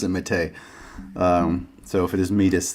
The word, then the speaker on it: Métis: Pronounced Métis.